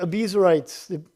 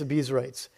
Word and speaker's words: Abiezrites: a trumpet, summoning the Abiezrites. I think that's how you say it. I heard somebody else pronouncing it differently, but for today it's Abiezrites, to follow him.